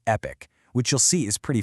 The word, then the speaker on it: Epique: And it's called Epique Realty. And yes, that's pronounced Epic, which you'll see is pretty fitting.